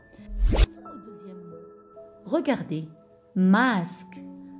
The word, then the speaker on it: masque: Masque. Masque. Oui, ici la lettre S se prononce S. Pourquoi? Parce qu'il n'est pas placé entre deux voyelles. Regardez la lettre qui vient juste après S. C'est la lettre Q. Alors, c'est le son S.